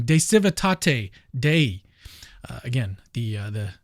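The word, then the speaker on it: De Civitate Dei: he argues all right I just looked it up it's pronounced de Cate that's probably still wrong de Cate day uh again the uh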